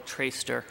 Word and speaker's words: Traister: My name is Traister. For the record, that's spelled T-R-A-I-S-T-E-R, and I'm a lawyer in Portland with the firm Murray, Plum & Murray.